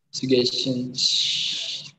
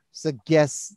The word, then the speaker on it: suggestion: ya Daniel suggestion suggestion bukan G bukan G J itu dibacanya dengarkan Daniel Iya Pak I suggestions suggestion ya walaupun itu tulisannya G Jangan pernah dibaca suggest Nah itu Nanti ditanya